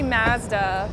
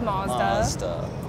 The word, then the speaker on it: Mazda: Mazda so this is so I'm Canadian I see master master master Craig is American he says monster potato potato I guess